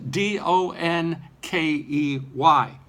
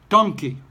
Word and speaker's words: donkey: such a word is do n ke Y my default pronunciation is donkey I know that it should be dunkey but I haven't been